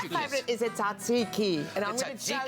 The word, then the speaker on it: tzatziki: Tzatziki. You gotta say it like that.